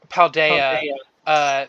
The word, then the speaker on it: Paldea: Fuck, I keep saying it wrong. Paldea.